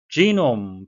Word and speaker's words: genome: Genome, 발음해 주셔야 되겠는데요. 장음이고요. 예, 이중 모음이 되겠습니다.